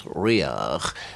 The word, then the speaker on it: Riabhach: Riabhach, which is often pronounced in many places Riach, means generally brindled, and